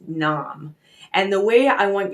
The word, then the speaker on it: Nam: pronounced sat and then n-a-m that's pronounced nom and the way i